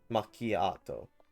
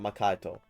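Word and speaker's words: Macchiato: This is syllable change. Makiato. Not Makito.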